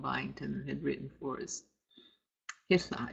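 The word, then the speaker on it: hihla: Hithla, H-I-H-L-A, H-L before vowels.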